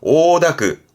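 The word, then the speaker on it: 応諾: 발음은 쿄다크, 음으로는 다크예요. 쿄다크. 쿄다크, 허락의 쿄다크, 응자죠. 응낙하네요. 오다크, 오다크.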